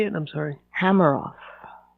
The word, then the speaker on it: Hameroff: Hameroff. Hameroff.